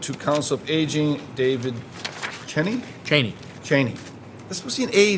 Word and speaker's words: Cheney: Cheney. Any comments that either of my colleagues would like to make? No, sir. I believe it's spelled and pronounced the same way as Dick Cheney.